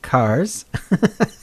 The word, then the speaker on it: Kaz: Pronounced Cars. The H is silent.